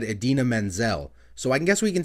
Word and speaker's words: Idina Menzel: did call her but he should have said Idina Menzel so I guess we can say that one